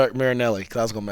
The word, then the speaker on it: Marinelli: Marinelli, because I was going to mess it up.